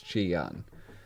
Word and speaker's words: Ji-Yeon: Because every time they say it, it's Ji-Yeon.